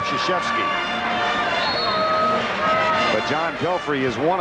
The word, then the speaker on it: Krzyzewski: All right, it's not how you spell it, it's how you pronounce it. And I think most folks now it's called Krzyzewski.